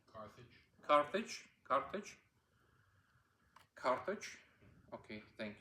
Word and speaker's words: Carthage: uh the city of Cartage is it correct pronunciation Carthage Carthage Carthage Carthage okay thank you uh the